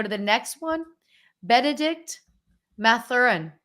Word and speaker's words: Mathurin: let me go to the next one Benedict mathurin how do you pronounce that name you basically nailed it mathrin you like put the focus on the beginning of the name yeah okay Benedict mathrin